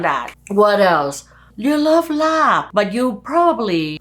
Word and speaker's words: larb: People hear and they probably spell it the way they hear, which is funny because there's no R in larb and it ends on the B, not a P, even though some Westerners,